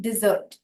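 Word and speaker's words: dessert: उच्चारण पर डालते हैं शब्द है स्पेलिंग है डी ई एस एस ई आर टी पर उच्चारण करते वक्त हम कहेंगे डिजर्ट मतलब डिश वाला डी और ज तो दो एस होने के कारण से ज बोलना है हमें तो डिजर्ट तो डिजर्ट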